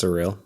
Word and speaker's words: SRIL: of shorten things so it means surreal it's pronounced surreal but it's just s ril but at the